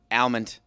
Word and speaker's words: almond: Almond. Debacle. A lot of people pronounce it almond, just like salmon.